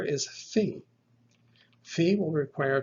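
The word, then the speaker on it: φ: It is pronounced like the F or the PH sound, like F in the word find.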